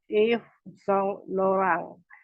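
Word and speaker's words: Yves Saint Laurent: bahasa Prancisnya itu dioh kemudian kalau YSL kita bacanya dalam bahasa Prancis itu if song lorang kemudian gensi juga kita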